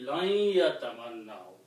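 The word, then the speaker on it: لن يتمنوه: When you read these things together, the ya and noon sukoon before the ya makes it a sound of the gunna. So it will be lan yatamannau. Okay? So instead of pronouncing lan and yatamannau, we will bring the sound of the gunna, lan yatamannau. So that means we are sounding this ya twice with the gunna.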